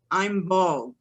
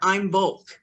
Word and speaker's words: Imbolc: It's pronounced Imbolc or Imbolc.